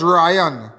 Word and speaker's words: Rian: The disease is 22-year-old Rian Rian. Somebody they pronounce it as Ryan.